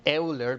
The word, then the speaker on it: Euler: uh yes so I know it's pronounced it's spelled like Euler but it's actually pronounced Euler right so and